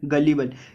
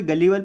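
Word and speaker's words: gullible: उसको बोलते हैं गलीबल। इसको कोई कोई गलीबल प्रोनाउंस करता है, कोई कोई गुलीबल प्रोनाउंस करता है, वो अपने ऊपर डिपेंड है क्या प्रोनाउंस करता है।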